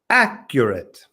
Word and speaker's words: accurate: that right John accurate let me just correct that one Rico this syllable this first syllable is where the stress goes accurate accurate accurate accurate well Ricardo